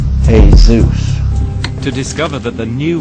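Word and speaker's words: Jesús: sanskrit and in it the spelling of jesus is pronounced hey zeus to discover that the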